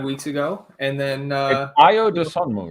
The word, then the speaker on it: Ayo Dosunmu: told me off and gave me the right pronunciation. So I've been saying Ayo Dosunmu.